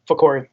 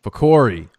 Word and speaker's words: Fakori: It's so the name Corey with a fa before it. Fakori. Fakori.